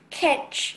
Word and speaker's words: kench: Kench.